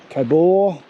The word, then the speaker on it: Cobaw: campsite so this is the kabor yeah i think that's how you pronounce it state forest and the